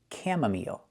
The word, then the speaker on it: chamomile: This word is pronounced chamomile.